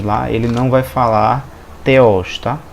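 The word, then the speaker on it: θεός: Ele se escreve assim em grego, se escreve dessa forma em português, e o som dele é o de TH em inglês, né? Thing. No caso aqui seria Theos.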